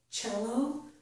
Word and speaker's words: cello: Also, the C in the word cello makes the ch sound.